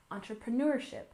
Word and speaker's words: entrepreneurship: and finally we have entrepreneurship we stress this syllable here entrepreneurship entrepreneurship and again this word has French Origins but we use it